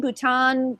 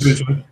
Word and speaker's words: Boutin: Is it Boutin? Bhutan? It's French. Booten.